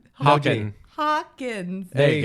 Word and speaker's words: Hawkins: Hawking. Hawkins.